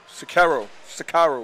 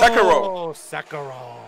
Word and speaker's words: Sekiro: play, not Devil May Cry, Sekiro, how you pronounce it? Oh, Sekiro. Yeah. Sakaro.